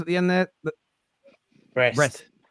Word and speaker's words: Brest: Brest. Is it pronounced Brest? Yeah.